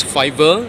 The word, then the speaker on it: fiver: will be pronounced as fiver, niner. You can do that too. You can add R behind 5 and R behind 9, so it becomes fiver, niner.